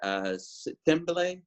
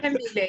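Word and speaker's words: Thembile: I really appreciated Thimbele. I'm probably mispronouncing it, but yes, I am. Tembile, But, it's okay. okay. I'll let it slide. Got it. I've learned it.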